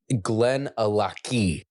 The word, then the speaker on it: Glenallachie: Glenn alaki ali. Okay. So, like you know, Loch Ness Monster L O C H. It's the same thing.